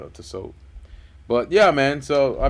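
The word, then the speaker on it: Tissot: the so the t is silent yep to soap but yeah man so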